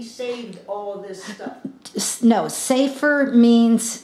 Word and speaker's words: sefer: Now, when you say, is it safer? Safer. S-A-V-E? No, it's in our English, they actually spell it S-E-F-E-R.